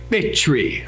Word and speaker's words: Bichri: I'm going to pronounce that CH like cherry. Bichri, okay?